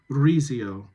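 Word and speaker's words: Rizzio: Kennedy, I think you can roll your R on Rezio.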